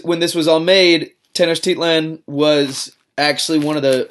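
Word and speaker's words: Tenochtitlan: ago um and its capital city was it's pronounced tenos Tian um I had to look that one up but when it was when this was all made teners Tian was actually one of the one of the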